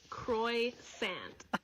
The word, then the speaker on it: croissant: Croissant. Croissant. So this morning you woke up and you decided that you're just gonna teach French people how to pronounce French words. It's not croissant, it's croissant.